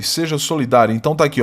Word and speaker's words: solidário: Depois, simplesmente partilhe comigo um sorriso e solidário, e seja solidário. Então tá aqui, olha, solidário, sílaba tônica penúltima, palavra paroxítona terminada em ditongo crescente.